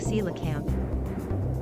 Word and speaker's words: coelacanth: It looks like an extremely large variant of coelacanth. Coelacanth. I would have no idea that that's how you pronounce that.